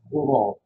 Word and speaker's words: Rouen: It's pronounced Rouen. Very, very French and very difficult to say.